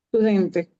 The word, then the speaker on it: studente: Studente. Estudiante. Studente, con la ST, ¿no? Studente. Y si yo quiero decir Studente. estudiante, ¿Cómo se cortó? ¿Si quieres decir qué? el estudiante, Il Lo Lo studente.